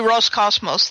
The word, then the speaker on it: Roscosmos: So So what looks like a P is a row. Is a row which is an is an R sound. So I've been saying it wrong all along. So it's probably it's probably Roscosmos.